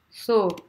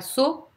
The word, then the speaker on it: so: So. C'est pas so. So à la française.